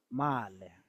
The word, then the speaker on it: Male: Male, male, male. Let me give you how to pronounce it. Ma, like here you can see ma le.